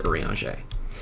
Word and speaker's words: Urianger: Please, before I reconsider, give my father's journal to Urianger. It's nuts that that man's name is pronounced like that. Welcome to the French.